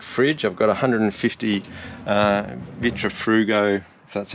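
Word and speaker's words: Vitrifrigo: quite a big fridge i've got 150 uh vitra frugo that's how you say it fridge and going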